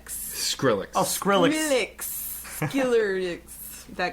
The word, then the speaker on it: Skrillex: And I always say this guy's name wrong. Skiller. Skrillex.